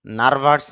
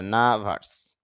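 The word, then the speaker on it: nervous: নার্ভাস, নার্ভাস না, শুদ্ধ হবে নার্ভাস, অর্থ হলো ভীত বা ঘাবড়ে যাওয়া।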